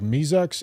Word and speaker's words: Mizix: I pronounce that like Mizux.